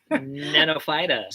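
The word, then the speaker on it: Gnetophyta: Oh, sure. Nenophyta. Sure, that's exactly what it is. Starts with a G.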